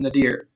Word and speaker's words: nadir: The nadir of American race relations, and that's pronounced nadir.